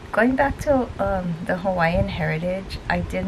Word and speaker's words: Hawaii: are The Originators of Hawaii Hawaii that's the proper way to say it and um they think